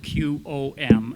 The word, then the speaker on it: Qom: And about 5 miles before the town, it is spelled Q-O-M, and so that's the spelling that I use. Q-O-M. It's the one place where a U does not follow a Q.